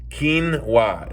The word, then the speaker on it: quinoa: Quinoa is how it's pronounced.